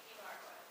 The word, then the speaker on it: Ibarguen: All right, how do I pronounce your last name? Ibarguen. Ibarguen, exactly the way it's spelled?